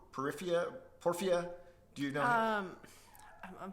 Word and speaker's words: Porphyry: Porphia? Do you know him? I'm thinking like Porphyry. Porphyry, that's his name.